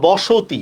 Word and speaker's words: বসতি: পারছেন এই নিয়মটা যেমন বসতি মনে করেন বসতি তাহলে কি হবে বসতি ব তালব্যস ওকার তরস্কারি বসতি অ ধ্বনির পরে অ বা আ যদি থাকে তাহলে প্রথম অ ধ্বনিটা কি হবে বিবৃত হবে ঠিক আছে প্রথম অ